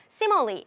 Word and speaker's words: simile: 모르셔도 지금 문제 푸는데 전혀 지장이 없지만 알고 싶으면 정확한 발음 simile, 직유라고 정리를 해주세요. 직유라는 용어에 익숙하세요, 친숙하세요 라고 물어보고 있습니다. 자, 반드시 영어에서 용어가 나오면은요. 이것에 대해서 설명을 해줍니다. 정의를 내려줍니다. Not smile.